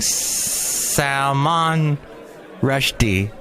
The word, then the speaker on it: Salman Rushdie: it or no playing Salman Rushdie you're supposed to put the emphasis on the second syllable in sound Rushdie is